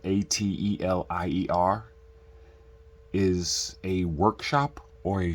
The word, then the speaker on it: Atelier: Atelier that's how you spell it but it's pronounced Atelier okay and laughs to me it looks like